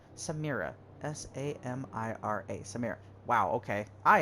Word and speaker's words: Samira: member of the clan that i know well samaria uh samira samaria why did i say her name wrong samira s-a-m-i-r-a samir wow okay i am terrible at